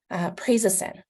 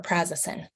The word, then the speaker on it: prazosin: first is medication management prazosin or prazasan people pronounce it different ways is one that people